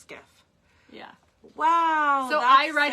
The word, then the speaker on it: SCIF: I just write skiff so I know how to pronounce it. Yeah, that's exactly. Because I sometimes write phonetically. A sensitive compartmented information facility, pronounced skiff.